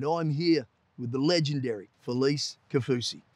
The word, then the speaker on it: Felise: as funny as when I actually say my name's Felice and they're like well who like you know Feliz Navidad yeah so yeah it's